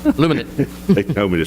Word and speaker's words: Luminant: I talked to a guy today, it was Woodluminant, Luminant. I pronounced it wrong. Luminant.